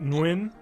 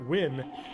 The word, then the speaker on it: Nguyen: have to say that I've always been told that's pronounced like win or when just to be just